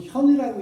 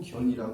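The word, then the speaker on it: 見: 의미 비슷하게 시로 보면은 요거 현이라고 읽지 않고 견이 읽어야 됩니다 내 스스로 보지 않고 여러 사람들이 있는 거기에 비치는 그 눈으로 보기 때문에 내가 봤다 내 눈으로 내 고집을 가지고 요것으로 보려고 하면은 내가 집된장 나의 시각으로 서면은 내가 가장 발은 존재가 될 수 있다 이런인 거죠 이렇게 그럼 그렇다면은 어떻게 봐야 되느냐 이건 현이라고 하는게 읽어서는 안 되고 견이라고 읽어야 됩니다 근데요 주도도 의미가 있죠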